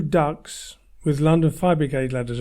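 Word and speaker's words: DUKW: They also had 2 ducks with London Fire Brigade ladders on. A duck is spelt D-U-K-W and was an amphibious truck.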